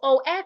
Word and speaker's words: of: of and please note o f is pronounced of the F there sounds like a v o v it sounds like a V but when you have o f f the FF there sounds like f so o f and